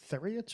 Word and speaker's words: Theriot: name column is it theriot or uh it's it's rhymes with stereo oh man i never